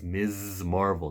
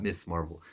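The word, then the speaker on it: Ms. Marvel: Girl by the way the way you pronounce her name is mrs. Marvel not miss Marvel there's a difference between the words google it I don't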